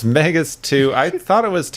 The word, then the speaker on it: Megas Tu: Yep, it's Megas 2. I thought it was, it's spelled T-U, which is a weird, so it's not Megas 2, like, to the Number planet.